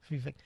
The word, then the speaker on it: Vivek: Vivek.